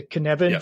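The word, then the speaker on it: Cynefin: pronounce it correctly because I guess it's Welsh right the kban framework right yeah you got it yeah all right I got it all right yeah the Canan fra framework so for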